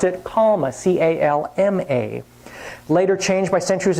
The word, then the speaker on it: calma: Romans who adopted the Greek shepherd word pronounced it calma, C-A-L-M-A.